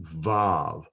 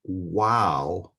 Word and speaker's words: Vav: up and down line, we're going to call it Vav. And it has the V sound as in victory. And it depicts a tent peg, and it kind of looks like a tent peg, doesn't it? It's sometimes called wow and pronounced W as in way.